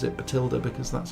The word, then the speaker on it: Bathilda: It was Bathilda Bagshot. Or Bathilda Bagshot, depending on whether you want to pronounce the th or not. In the audiobooks, Stephen Fry pronounces it Bathilda because that's how you're supposed to pronounce the name.